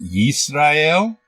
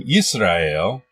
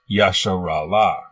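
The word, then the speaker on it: ישראל: In the Greek Septuagint, the name Yisrael was written like this and is pronounced Israel. It is not Yasharala.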